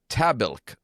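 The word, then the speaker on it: Tahbilk: The word is tabil. No, it's not. It is. The word is pronounce it one more time.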